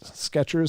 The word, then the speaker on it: Skechers: There's plenty of debate about how the company's name is spelled. So which is it? Skechers, C-H-E-R-S, or T-C-H-E-R-S?